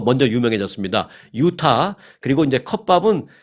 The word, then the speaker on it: CUPBOP: 유타 그리고 이제 컵밥은 한국식 발음으로 영어를 썼어요. CUPBOP, CUPBOP, 컵밥 이렇게 그래서 유타 컵밥이라는 이름으로 유명해졌습니다.